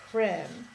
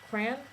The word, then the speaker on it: crayon: it entirely disappears too, which is how you end up with Cran. Cran? Is that how you say it? Cran? Cran. Without the Y and without the O.